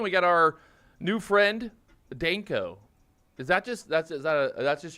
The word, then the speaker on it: Danko: We got our new friend, Danko. Is that just, that's just your name? Like, in Bulgarian it sounds a little different. You know, the A is different. I mean, in Danko. Bulgaria? Yeah, it's Danko.